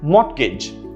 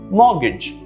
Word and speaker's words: mortgage: you do this but people pronounce this very often as mortgage right mortgage there's a t sound this is incorrect the correct pronunciation is mortgage mortgage notice the absence of t or r sounds mortgage that's how you actually pronounce this word and again this is